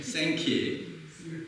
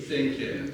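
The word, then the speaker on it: Sankey: 무 생키 들어봤죠 예 발음 잘하셔야 돼 생키 예 또 하나 넘겨주 넘겨주시면 자 두 분을 함께 이렇게 왼쪽에 그 요런 보시는 데서 왼쪽이 누구예요 무디이 써 있잖아요 그죠 오른쪽이 누구예요 키 생키 따라하세요 무디 무디 생키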